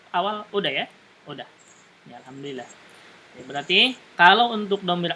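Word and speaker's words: الحمد لله: Contohnya misalkan alhamdulillah, kenapa dibaca al bukan il gitu ya? Karena dia bergandengan dengan lam sukun.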